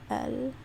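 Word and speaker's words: القمر: don't pronounce the lam, but if it doesn't, then you do pronounce it, like in the word al-qamar, which means, this means sun, and this means moon.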